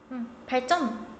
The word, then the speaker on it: 발전: 발전 해가지고 된소리 되게 일어나죠.